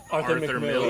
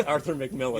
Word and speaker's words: Arthur Miller: Arthur Miller. Yes. Oh, T.M. Francis got there first because Dan mispronounced it. I said, how did I say Arthur McMillan?